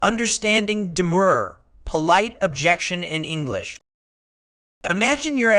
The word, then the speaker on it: demur: mean by the word demur. Word type. Demur can function as both a verb and a noun. As a verb, it's pronounced die. As a noun, the stress shifts to the first syllable, de-mur, meaning, as a